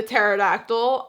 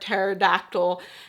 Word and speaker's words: pterodactyl: Also, like the pterodactyl, there's also this huge denial that the word pterodactyl doesn't have a P in it.